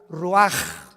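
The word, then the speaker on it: רוּחַ: Roach así como suena se pronuncia la ch en hebreo como J raj se le só y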